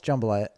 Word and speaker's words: jambalaya: and a jam balaiah it's not jambalaya's jambalaya my jambalaya no you put the wrong and fastest on the wrong syllable Shambala no it's jambalaya and I think it